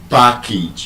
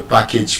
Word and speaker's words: package: But two syllable and above, message, passage, package. You don't say I have a package for you.